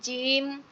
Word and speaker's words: জিম: দেখেন, প্রথমে যদি জিমের উচ্চারণ করা হয়, জিম, দাঁতের মাড়িটা চেপে উচ্চারণ করবেন আমার সাথে, জিম জিম জিম।